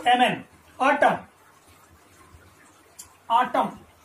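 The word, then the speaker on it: autumn: यहां देखिए next word में ए यू टी यू एम एन, ऑटम, ऑटम, यहां पर जो एन है वो कैसा, साइलेंट है, इसका प्रोनाउंसेशन नहीं होता है, तो ऑटम का मतलब होता है शरद ऋतु या शरद, ठीक है।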